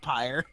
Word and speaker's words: Pyre: at least that yeah she named herself pyre it rhymes with fire cuz it sounds